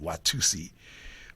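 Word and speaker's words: Watusa: we went to Watusi although it's spelled uh w a t-u-s-a it's we always called it Watusi uh and then we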